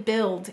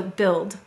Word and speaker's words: build: have child and wild but what do we have in build and Guild the short I sound and by the way